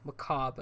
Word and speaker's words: macabre: seems a little maka macabre a Cobb there you go macabre I keep trying to pronounce the are when it's silent the most mounts aren't